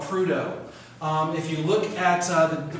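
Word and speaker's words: Prudhoe: to the city in northern uh alaska called prudo if you look at the pronunciation the gentleman is named after it's pretto but all the people there pronounce it prudo um another example in newfoundland canada people make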